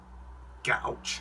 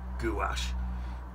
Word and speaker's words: gouache: um designers white gouch or gouache people pronounce it difference um and even if